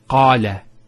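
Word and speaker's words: الله: here are some words first one here is Allah notice the elongation of the a sound so we have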